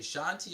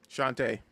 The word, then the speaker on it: Shantae: Is it Shanti or Shantae? Shantae.